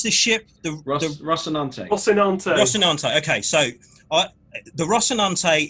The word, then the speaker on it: Rocinante: How do you pronounce this ship? The Rocinante.